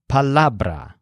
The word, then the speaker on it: palabra: laboratories his word for word is palabra with a stress on lab palabra the second thing that